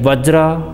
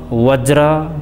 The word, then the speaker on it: वज्र: यो संस्कृत शब्द हो, यसलाई वज्र वज्र दुईवटै शैलीमा उच्चारण गरिन्छ र यो संस्कृत मन्त्र उच्चारण गर्ने संस्कृतकै लवजमा उच्चारण गर्ने र भोटको लवजमा उच्चारण गर्ने दुईवटा परम्पराहरू रहेको छ र जुन लवजमा उच्चारण